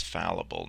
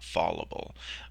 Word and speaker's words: fallible: Um but but the way that I always think of it is is not the pronunciation is fallible, not fallable.